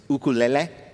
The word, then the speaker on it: ukulele: We were talking before the correct Hawaiian pronunciation of the instrument of which you are a master is ukulele.